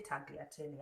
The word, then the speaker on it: tagliatelle: So this shape is called the tagliatelle. The G is silent. I'll say tagliatelle.